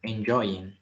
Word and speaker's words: enjoying: Pero cuando le agregamos, when we add ing, we have to pronounce like enjoying.